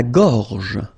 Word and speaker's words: gorge: La gorge. La gorge. Okay, remember when you get this combination G and O, you get the sound go, go. Okay, so gorge. And then G and E gives J. La gorge.